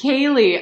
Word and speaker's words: Caleigh: And we are ready to meet Caleigh. Is it? And we are like, we're just going to have a blast. And here we go. Hey. Hello. It's actually, how are you? It's Caleigh.